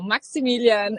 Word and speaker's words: Maximilian: So we like to stick to the German pronunciation, right? Like, do you feel more Germanic or Italian? So the names would be more German. So Maximilian and Sebastian.